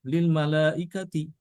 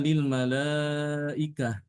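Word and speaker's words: للملائكة: pada kata ini ya tidak boleh dibaca Lil malaikati atau Lil malaikat ya tapi dibaca dengan ha ya waid qulna Lil malaikah ya Nah ini bab ini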